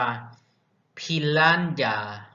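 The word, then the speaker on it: piranha: ปลา ปิ รัน ย่า ภาษา อังกฤษ อ่าน ว่า พิณ ร้าน ยา P ล้าน อย่า ออก เสียง ยา ใน เลือด ยา แน่ พี ล้าน ยา เนาะ ภิ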